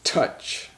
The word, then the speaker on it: touch: so that's chocolate chocolate the fourth word is touch touch like I can touch touch my arm with my finger it's spelled tou CH touch there's a chat the